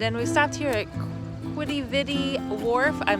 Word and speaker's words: Quidi Vidi: Oh, apparently it's pronounced Quidi Vidi. Quidi Vidi.